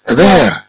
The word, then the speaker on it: there: النطق راه تتبدل النطق الاولى تنطق هير الثانية تنطق ذير ذير ثم they are here